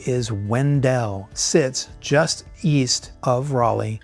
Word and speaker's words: Wendell: Now, locals will tell you right away it's pronounced Wendell.